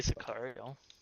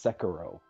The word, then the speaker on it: Sekiro: Play Sicario. It's Sekiro. Sicario. It's Sekiro or Sekiro. I don't know how you say it, but Sicario. you're adding extra letters.